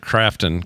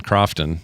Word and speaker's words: Krafton: It's spelled Crafton, not Croftton.